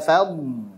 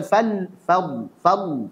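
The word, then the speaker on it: فَضْلُ: Dzalika fadl, bukan fadl seperti lam.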